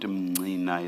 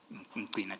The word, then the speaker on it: Mqina: You pronounce it Mnina. Is it Mnina or Mqina? It's written Mqina. Mqina, Chair.